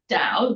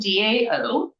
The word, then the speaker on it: Dao: It is Dow. Like a stick? A rod? So my husband is Vietnamese, and it is Dao, Dao, but it's pronounced like Dao De Ching or any of the